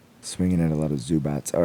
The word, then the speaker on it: Zubac: Swinging at a lot of Zubats. All right, I'm done. Yeah. Is it pronounced with like a T or is it pronounced Zubac?